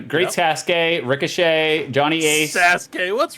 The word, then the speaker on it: Sasuke: Sasuke, what's wrong with you?